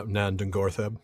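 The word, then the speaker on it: Nan Dungortheb: Ungoliant wound up living, that I can never pronounce. Yeah. Nandungortheb.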